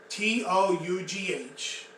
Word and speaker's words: tough: So, tough, T-O-U-G-H, which is pronounced like tough, T-U-F-F, means strong. Okay.